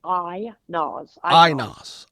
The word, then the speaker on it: Aynaz: Is it Aynaz? I'm pronouncing it right? It's Aynaz.